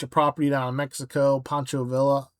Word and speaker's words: Pancho Villa: Pancho Villa Villa, sorry. Pancho Villa, let's pronounce it semi-correct.